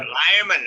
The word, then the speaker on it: Lehman: John Lehman, is that pronounced, sir? John Lehman. Yep. Lyman, okay.